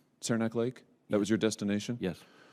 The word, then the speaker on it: Saranac Lake: been there is that is that the right pronunciation Saranac Lake that was your destination yes so did you